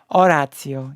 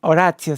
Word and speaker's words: Horacio: know what you mean orazio you don't pronounce the age right oracio Sanchez okay okay okay